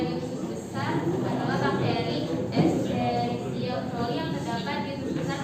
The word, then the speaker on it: Escherichia coli: Oke, itu bakterinya namanya Escherichia coli ya dibacanya ya.